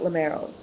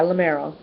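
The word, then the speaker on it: Limeros: Prince Magnus from lenos and or is it lero yeah lamero um yeah sorry about the mispronunciation I was thinking of aranos laros kind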